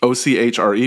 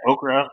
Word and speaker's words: Ochre: I don't like okra. I don't want any okra. I'm like, no, it's ochre.